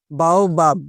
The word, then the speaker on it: baobab: बाओबाब, BAOBAB इसका spelling होता है।